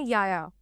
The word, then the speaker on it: Yahya: Pronunciation basically याया है।